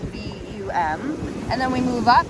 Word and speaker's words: VAM: And then we move up to our Swadisthana chakra, our sacral chakra, and we have VUM with a V, spelled VAM, but it's pronounced VUM.